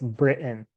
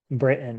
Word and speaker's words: Britain: it sounds like this Britain Britain it's like I leave a space here I'm like Brit and Britain um that t is is is silent but there's a there's a space there Britain okay this country